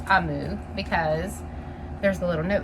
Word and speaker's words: Omu: is spelled om you and I know it's pronounced I move because there's a little note inside that tells